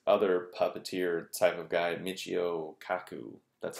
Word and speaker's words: Michio Kaku: Okay, so then another example of kind of what happens is this other puppeteer type of guy, Michio Kaku.